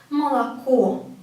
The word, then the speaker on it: молоко: But we, again, pronounce the first 2 as A, ma, la, and only the last one as ko, as O, because it has a stress on it. Молоко.